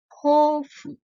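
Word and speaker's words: 豊富: Ini dibacanya hofu.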